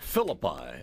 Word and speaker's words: Phillippi: Phillippi. I've been pronouncing it wrong.